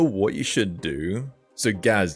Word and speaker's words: Gaz: not hom homophobic but don't call me it's Gaz or Gaza so then